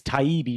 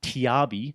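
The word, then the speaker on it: Taibbi: matab and even though Matt taibi said it's TBI not tiabi and even though Malcolm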